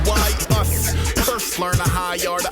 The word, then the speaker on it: Aesop: It's Ace, pronounced Y-us.